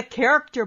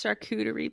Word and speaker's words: charcuterie: It's like a character board without the character. It's not a character board. It's a character board without the character. It's charcuterie, please.